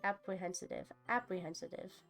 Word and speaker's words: apprehensive: Apprehensive. It's apprehensive. It's apprehensive. There we go. That's how I'm pronouncing it wrong. It's apprehensive. No T. Apprehensive.